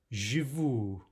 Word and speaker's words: живу: We should be saying Живу.